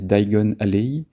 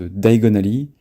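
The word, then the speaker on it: Diagon Alley: avec de travers et en anglais c'est un peu la même chose parce que le lieu c'est dagen allez y et harry prononce daigo na li pour dire diagonalement quoi donc il ya aussi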